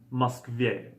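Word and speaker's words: Москва: this so Moskva and the stress is on the last syllable so to say he is in Moscow you can say on the musk va okay notice how the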